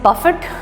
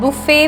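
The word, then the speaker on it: buffet: या बुफे सो यस the spelling is बफेट बट इसको हम बुफे बोलते हैं इट्स अ फ्रेंच वर्ड इसको प्रोनाउंस बुफे किया जाता है सो बेसिकली अगर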